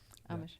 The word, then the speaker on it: Amish: We can't like the Amish or the Amish, however you pronounce them. Amish. Amish.